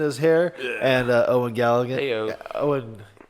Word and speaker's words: Gallivan: And Eoghan Gallivan. Heyo. Owen. How do you say it? Gallivan. Gallivan. I want to say Gallagher. A lot of people say Gallagher.